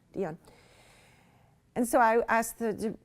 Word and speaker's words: Dion: Dion.